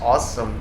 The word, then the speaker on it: Ausdom: just talking for sure this is also can be pronounced awesome brand so thank you can